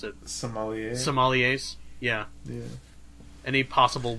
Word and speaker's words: sommelier: Yeah, any possible wine connoisseurs or apprentice some how the fuck do you pronounce it? Sommelier.